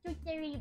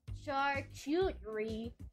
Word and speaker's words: charcuterie: that's why there's the twitchery board I don't know how to pronounce it try to return Cuttery but yeah sure sorry chart Cuttery charcuterie it's French they put like cheese